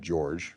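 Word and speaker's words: Jorj: And George is a human druid named George. That's spelled J-O-R-J.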